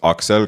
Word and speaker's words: Axel: So, the lore on that is my name is actually pronounced Axel cuz I'm like Estonian, European.